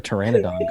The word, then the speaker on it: Pteranodon: it is it yeah the P is silent that's that's why you can never hear a Pteranodon should you be